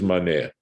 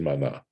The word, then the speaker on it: maneh: And it is maneh. I'm sorry. I said mana. It is maneh. That is the way that currency is pronounced.